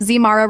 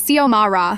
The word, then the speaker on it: Xiomara: Zmara Rodriguez, she'd call out, not even looking up from her clipboard. It's Xiomara, I'd correct politely.